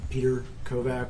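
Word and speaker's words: Petr Kovach: Sergeant kette good afternoon my name is Sergeant Peter kovak with the a police department's homicide side unit um my name is spelled p e t r k oov a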